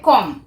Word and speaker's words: comb: এখানে বি এর উচ্চারণটা উজ্জ থাকে, উচ্চারণটা হবে কম।